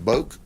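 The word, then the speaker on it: Boek: i don't know boc b-o-e-k that's polk county pronunciation so that that's that is subject to modification by someone who may have a different interpretation be in the family but we call him boat johnson boak broke the law and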